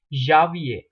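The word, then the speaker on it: janvier: through the first one from January it is Javier it's a January uh there is a little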